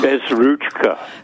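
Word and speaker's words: Bezruchka: correctly um Bez it's a hard CH it's a Ukrainian name uh it means without a little hand oh Bez ruchka Bez ruchka okay I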